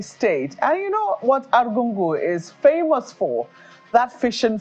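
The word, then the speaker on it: Argungu: Palace uh of arungu I just learned how to pronounce that properly this morning arungu and if I'm still not pronouncing it right I think those good luck to them those who are from there can call in and say that still know how to pronounce it but I used to say aru and I was told know is arungu so that's the the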